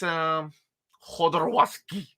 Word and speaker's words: Jodorowsky: It's Jodorowsky. It's Jodo. It's Yodo.